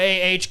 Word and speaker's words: Copfer: You see the P and the F, and people are always like, one of those motherfuckers is silent. I know, and they're not. Yeah. What Copfer.